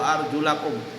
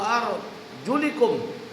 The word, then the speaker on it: arjulakum: Nah, bacanya wa arjulakum. Tapi kalau orang Syiah, orang-orang Syiah dia bacanya wamsahu bi ru'usikum wa arjulikum. Wa arjuli dia baca.